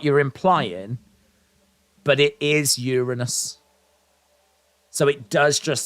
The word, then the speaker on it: Uranus: I'm going to destroy Uranus tonight. Yeah, you see the problem there, Kevin? The problem there, mate, is it calls back to a point I made earlier. You actually pronounce it Uranus.